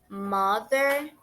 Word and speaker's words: mother: Mother, father. Uma observação que a gente precisa fazer é em questão da pronúncia do TH. A pronúncia do TH, nesse caso, tem basicamente um som suave da letra Z.